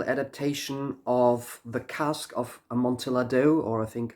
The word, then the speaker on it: Amontillado: The fourth track is a musical adaptation of the Cask of Amontillado, or I think Amontillado would be a more correct pronunciation.